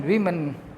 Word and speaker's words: woman: मेन वीमन and children. मेन वीमन, देखिए इसका pronunciation वीमन है, WOMEN, वीमन, और WOMAN, वुमन. ये वुमन है, वू है, और ये वीमन है, वीमन, वुमन, वीमन.